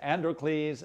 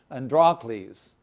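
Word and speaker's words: Androcles: You can pronounce it several different ways. Androles. Andrales. But we'll just pronounce it Andrales.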